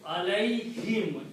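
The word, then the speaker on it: عليهم: And to match this sound in tajweed, we also pronounce this as kasra. So alayhim, easy to pronounce, instead of saying alayhum, it's more tajweed, more rhythm in there.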